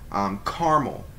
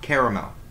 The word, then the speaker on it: caramel: how I say it Carmel not caramel I have a bone to pick with anybody who says caramel it's caramel two syllables carmona caramel caramel next